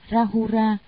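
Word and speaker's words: Rāhula: Ngài La Hầu La, Ấn Độ đọc là Rahura, chữ Hán là Phú Chướng, là thái tử của Phật, ngài có đạo hạnh bí mật đệ nhất.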